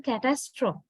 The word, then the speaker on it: catastrophe: Now, first word pronunciation, catastrophe. Catastrophe. Actually, we give heaviness, right? This a sound, the syllable, the second syllable is quite strong. Catastrophe, we say.